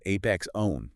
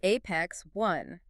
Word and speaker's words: Apex One: Apex one, not Apex own. Say it right. Apex one.